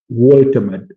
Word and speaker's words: Woltemade: be reached now, that a replacement in Nick Woltemade. Guys, this is how I pronounce the name.